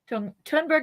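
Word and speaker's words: Thunberg: and pick on Greta is it thundberg or tunberg tunberg is what I've heard pronounced on like the news and stuff okay that's what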